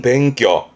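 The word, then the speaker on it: 勉強: 뒤에 강자니까 강해지기 위해 힘쓰는 게 공부를 말하는 뱅교. 그렇죠? 일본어에서 공부를 말하는 뱅교술의 뱅교가 이 한자. 요거를 동사로 쓰게 되면 발음은 즈토메르 해서 힘쓰고 노력하는 부분인데 주로는 했던 한자죠.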